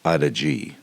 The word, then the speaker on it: Adige: Um another beautiful day riding down the Adige River, and I hope that's how you pronounce it. It's actually pronounced Adige.